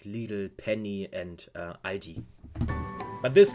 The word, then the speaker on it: Lidl: There they usually are pronounced Lidl, but in Germany they are called Lidl.